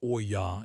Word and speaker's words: olla: An olla, pronounced oy-yah, is an unglazed clay or terracotta pot.